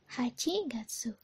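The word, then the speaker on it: 八月: itu ada bulan delapan bulan delapan Aji Gatsu hachigatsu kalau misalkan sudah lampau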